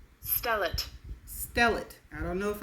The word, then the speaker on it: stellate: And this is how it is pronounced. Stellate.